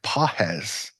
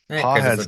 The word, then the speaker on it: Pages: I think it's pronounced Páez. I think it's a silent G. Um if the announcers who have called games for the Dodgers have it right, but Okay. Um Páez, do you Do you remember Páez from the playoffs?